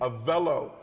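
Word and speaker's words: Avelo: this is big big things happening did I pronounce it right avillo a Velo a villo a Velo okay a Velo let me tell you something I'm mad that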